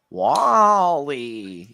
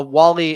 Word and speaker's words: WALL-E: Wallally. You said it wrong. That's on you. That's on you, Randy. You let us all down. Uh yeah, A Wall-E is one of the